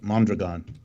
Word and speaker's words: Mondragon: ] yeah well let me correct you about mondragon which is by the way how it's pronounced mondragon has multiple parts some of the